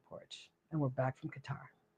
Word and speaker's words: Qatar: But anyways, that's so anyhow, it was a great time in Qatar. Remember, he said Qatar. Mm-hmm. Qatar.